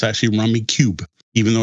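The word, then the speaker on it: Rummikub: And Rummy Cub was actually the second game to ever win the Spiel des Jahres.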